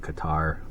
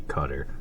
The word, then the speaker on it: Qatar: another country that a lot of people uh mispronounce they call it Qatar um it's supposed to be cutter qu or q a t a r um